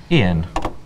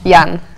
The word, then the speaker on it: Ian: Ian. Ian. Ian. Jan, actually, in Russian. Ian in English, though.